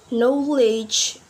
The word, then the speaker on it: knowledge: We not pronounce G, but we pronounce H. And the next example, like knowledge, bridge.